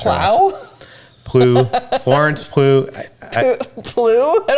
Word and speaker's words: Pugh: Pugh? There's no L in there. It's just Pugh, I think.